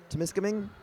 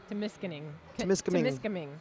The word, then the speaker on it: Temiskaming: Can you pronounce that one with the T again? Temiskaming? Temiskaming.